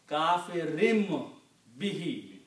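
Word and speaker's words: كَافِرٍ بِهِ: Kafirim bihi. The word is kafirun, but the effect of B is that it's sounding like a meme.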